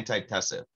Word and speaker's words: antitussive: Tussive or tussative? There might be an extra syllable in there. Yeah, antitussive.